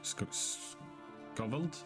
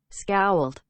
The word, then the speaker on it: scowled: How do you pronounce that? Scowled. Scowled.